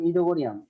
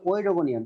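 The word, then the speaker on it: Oedogonium: আমরা কিন্তু এখানে উচ্চারণ করলাম ইডোগোনিয়াম, এটা কিন্তু আসলে ওইডোগোনিয়াম, তাই না? দেখে মনে হচ্ছে ওইডোগোনিয়াম। তোমরা একটা বিষয় মনে রাখবা যে পরপর দুইটা ভাওয়েল থাকলে প্রথম ভাওয়েলের উচ্চারণ হয় না, পরের ভাওয়েলের উচ্চারণ হয়। কাজেই এখানে ইডোগোনিয়াম উচ্চারণটা হবে। তাহলে ইডোগোনিয়ামের ক্লোরোপ্লাস্ট হলো জালিকাকার।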